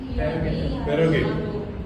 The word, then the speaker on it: prerogative: Prerogative. But it is pronounced as P-R-U-H.